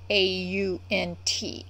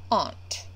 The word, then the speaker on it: aunt: Okay, there's actually two ways you can pronounce AUNT, and both are correct. Aunt or aunt. Considering the word to rhyme with it is grant, I'm gonna guess they're meaning aunt, which is how I pronounce it. But I have relatives who pronounce it aunt.